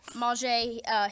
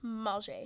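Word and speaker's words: Mauger: Manger, his name is Mulger, but he asked for us to pronounce it differently, so Manger.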